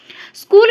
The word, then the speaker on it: skhole: স্কুল শব্দটি কোন Greek শব্দ থেকে এসেছে? SKHOLE, ঠিক আছে? এটা নিজেদের মতো করে তোমরা উচ্চারণ করবে, স্কোল বলতে পারো, ঠিক আছে? এইচটা এখানে সাইলেন্ট হয়ে যাবে।